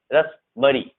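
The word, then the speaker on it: raspberry: Psycho, psychology है, इसे पढ़ेंगे रसबरी, रसबरी, ये पी साइलेंट है, रसबरी।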